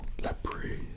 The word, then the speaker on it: labret: This would be located on your sideburns area, and then the vertical labret, or lapri, should you wish to pronounce it properly, and that would